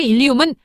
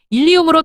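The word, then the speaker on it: ileum: 그 대표적인 예로는 리엄 첫 번째 일리움은 장골 그리고 두 번째 일리움은 회장골과 회장의 발음은 일리움으로 동일하나 장골은 골반의 일부분이고 회장은 소장의 한 파트로 스펠링에 따라 지칭하는 신체 기관이 다릅니다.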